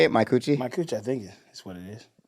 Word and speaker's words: Micucci: Micucci?